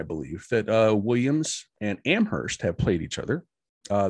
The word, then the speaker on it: Amherst: yeah um let's see williams was founded in 1793 amherst in 1821 um yes and and i do like your pronunciation it is amherst um and uh